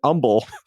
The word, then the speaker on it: Humble: CPL Grammar on Reddit says, "A petty gripe for them is how we pronounce the H in Houston, but it disappears in Umble."